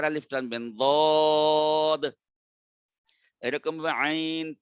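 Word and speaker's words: ع: এরকম ভাবে আইন তিনটা হরফ দিয়ে লেখা, আইন ইয়া নুন, আইন চার আলিফ টানবেন।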